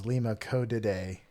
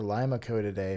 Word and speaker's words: Limacodidae: And the family is Limacodidae, or Limacodidae, if we're thinking beans.